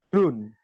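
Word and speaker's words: grün: Huruf U umlaut itu dibaca tetap seperti U, tapi dengan bibir bulat. U. U. Contoh, grun. Grun. Atau für. Für. Ingat, pembacanya tetap dengan huruf U, tapi dengan posisi bibir itu bulat. Jadi, für atau grun seperti itu.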